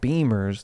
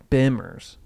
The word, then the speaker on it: Bimmer: BMW cars are not called Beamers. They're called Bimmers.